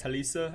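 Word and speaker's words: Talese: think that Talis fuaga Talisa I believe is how you say it fuaga is a great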